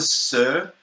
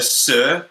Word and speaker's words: Suhr: a Sir, it's like it's spelled SUHR. A Sir, I think, or a Sur.